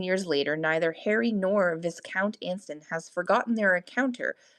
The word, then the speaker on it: Viscount: Viscount. The S is silent.